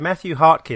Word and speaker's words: Mathew Hartke: So on the line from the US, we have Mathew Hartke.